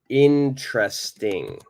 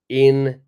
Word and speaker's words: interesting: Interesting. All right, I'll show you how I would say it. Interesting. The very first E is silent.